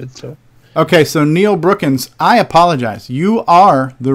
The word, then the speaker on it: Brookins: By the way, my last name does not have the letter G. Oh, it's Neil Brookins.